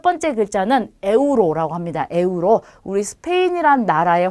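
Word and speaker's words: euro: 그럼 첫 번째 글자는 에우로라고 합니다. 에우로. 우리 스페인이란 나라의 화폐 단위가 유로죠. 네, 그 유로를 스페인어로 읽을 때는 에우로라고 읽으시면 돼요.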